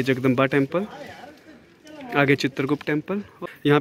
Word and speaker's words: जगदंबी: ये जो टेंपल आप मेरे पीछे देख रहे हैं ये जो हमने जगदंबा टेंपल एक्चुअली उसको जगदंबा नहीं जगदंबी टेंपल प्रोनाउंस करते हैं।